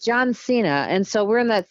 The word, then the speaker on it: John Cena: John Cena, because I always want to say, because his name feels Spanish, or it feels like it should be it feels like it should be pronounced John Cena. Ah, yeah, but it's John Cena, and so we're in